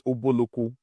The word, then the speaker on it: Ubulu-Uku: But today the pronunciation is Ubulu-Uku.